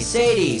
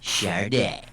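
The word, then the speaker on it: Sade: How the heck do you pronounce that? Chararda, Sadi, Sad, or Sod? I think it's Chararda. It's pronounced Chararda.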